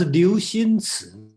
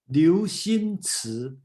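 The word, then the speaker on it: Liu Cixin: His name is it's spelled Cixinliu. Cixin. Oh, sorry, that's Liu Xinci. Oh, thank you. Yeah, actually. Can you pronounce it for me? Say it again, please. Liu Xinci.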